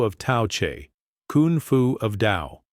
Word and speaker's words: Tao: For one thing, why is the word spelled t ao when it's pronounced dao?